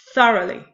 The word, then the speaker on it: thoroughly: thoroughly the first syllable it has three syllables the first syllable is stressed followed by two unstressed syllables thoroughly when we're talking about